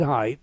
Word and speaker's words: Haight: Said Haight, but spelled like it's HAIGHT.